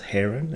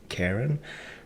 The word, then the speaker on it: Kharon: the last video telling me that it's actually pronounced Heron and not Karen so I'll try to use that uh from